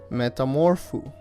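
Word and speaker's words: μεταμορφόω: great because the Old Testament so Greek is pronounced Metamorpho and we get the word met metamorphosis from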